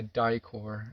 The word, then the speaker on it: Dicor: we keep on hand are both made by dicor it's spelled d-i-c-o-r they've got the industry standard yeah